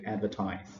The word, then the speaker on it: advertise: So what you can see, the red line below the first syllable is the stress mark.